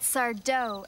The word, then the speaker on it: Sardo: That Sardo accent on the dough.